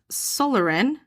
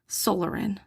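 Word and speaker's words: psoralen: of light therapy and solarin it's spelled p-s-o-r-a-l-e-n solarin i'm thinking it's like pterodactyl and pneumonia okay p is silent right which takes uh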